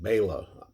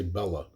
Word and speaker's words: Bela: classic starring baylor lugosi you'll notice i'll always call lugosi baylor i don't say bella and i've always grown up saying bella that's the way it is and over the years